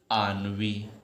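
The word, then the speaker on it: ennui: लेकिन इसको पढ़ेंगे बेटा, ध्यान रखना, नहीं तो प्रोनाउंसिएशन करने में गलती करोगे। आनवी, लग ही नहीं रहा है कि इसका प्रोनाउंसिएशन आनवी होगा।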